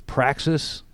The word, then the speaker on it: Praxis: show thank you for inviting me so it's praxis group all right inc practice group and practice is spelled p-r-a-x-i-s yes sir and it means process